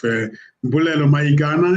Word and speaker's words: Mbulelo Mayikana: as well as we are spending time with Mbulelo Mayikana. Is that the right way of pronouncing it?